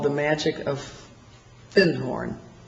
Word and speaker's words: Findhorn: Because I'd found a book called The Magic of Findhorn. And he corrected my pronunciation. He said, you mean Findhorn?